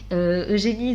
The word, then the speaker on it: Eugénie: C'est pas Eugénie, c'est Eugénie.